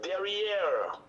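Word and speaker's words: derrière: i go i'm kanaki the word is derriere that's how it's pronounced derriere it's a french word that english pronunciation derriere in botox backside so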